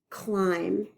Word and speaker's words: climb: not crossed out but see if you hear it when I say it climb did you hear the B no I don't usually hear the buh sound at the end climb the hike up the